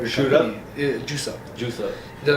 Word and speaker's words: Jvice: So, what I did, I substituted the U's with V's. So legally, it's spelled a totally different word. So it's really. It's really Juice Up. J Vice.